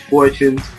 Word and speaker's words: Fortune: Dej Fortune. We're pronouncing it correctly, right? Fortune, right? Yes, I know, like 14, I don't know, mess it up.